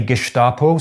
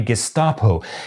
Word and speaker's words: Gestapo: And all of the ones that I consulted said that both pronunciations are valid. For example: this is Duden, the standard reference for the German language; this is the Digital Dictionary of the German Language, and this is Wiktionary. And then I started looking for examples of historical documentaries, so I could hear native Germans actually pronouncing it. And sure enough: some say “Geshtapo,” some say “Gesstapo.”